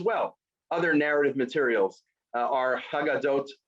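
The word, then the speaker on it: הגדות: Other narrative materials are Haggadot, which then becomes pronounced Agadot, because some people don't like pronouncing Hayes. It's true in Israel today also, right? You go to Yerushalayim, people don't pronounce their Hayes. So Haggadot becomes Agadot.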